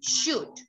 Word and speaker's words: should: In these words, the letter L is a silent letter. Wood. No me digan wool. That's incorrect. Could and should.